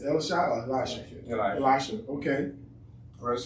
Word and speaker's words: Elisha: How do you pronounce it? It's Elisha or Elisha? Elisha.